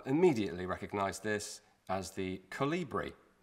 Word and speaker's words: Kolibri: battlefield 1 have immediately recognized this as the calibri calibri with a k now this was invented by